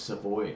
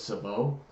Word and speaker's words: Savoie: I always thought your last name was Savoie, but it's Savoie. Savoie. Savoie.